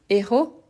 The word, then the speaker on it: héros: de fautes parce qu' oui héros héros c'est un hche aspiré mais héroïsme c'est un hche mué l'héroïsme donc celui-ci normalement on se